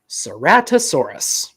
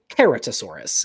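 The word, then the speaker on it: Ceratosaurus: Seratosaurus or Seratosaurus or you could pronounce it keratosaurus if you're a real sticker for Latin.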